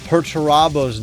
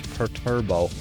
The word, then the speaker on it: Perturabo: I mispronounced Perurabo's name constantly for the rest of this video as Perturbo or as my Discord likes to call him, Peter Turbo, which I'm completely blaming